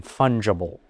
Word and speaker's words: fungible: And that gender is not, I'll give you a fancy word again, fungible, meaning interchangeable or able to be manifested in different areas. Can you spell that? It's like fungus, but Fungible, fungible. And that is a conviction